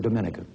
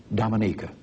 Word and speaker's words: Dominica: prime minister eugenia charles of dominica i call that wrong she pronounces it dominica she is chairman of